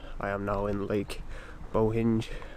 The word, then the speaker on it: Bohinj: am now in Lake Bohinj. I know you're not actually supposed to pronounce the J, but I do it every time.